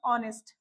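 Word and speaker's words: honest: हमने previous class में भी यही देखा था कि जो ऑनेस्ट शब्द है उसमें एच हमारा साइलेंट हो जाता है। तो जब इसको प्रोनाउंस करते हैं तो ये बनता है ऑनेस्ट।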